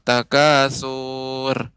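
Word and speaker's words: التكاثر: Hotel ton surni Ibu pengucapan Takasur maka ini tidak boleh lama tak kasur yang tepat tegas surat alhakumut Takasur ya Demikian Ibu silakan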